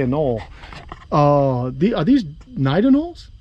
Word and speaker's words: anole: am i saying right is it a knoll right anoli no some people you never know how to say it but i always say a null uh the are these